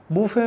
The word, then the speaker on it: buffet: हो गए महमूद अयाज बुफे के स्पेलिंग देखते हैं बी U double F ई टी अब यहां पर टी साइलेंट है बुफे में और यह नाउन है अच्छा इसको बफे भी बोलते हैं लेकिन बुफे में प्रेफर इसलिए ज्यादातर लोग बोलते हैं और ब्रिटिश एक्सेंट भी है अच्छा तो बुफे में